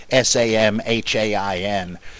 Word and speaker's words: Samhain: I think there are various different pronunciations, but Samhain.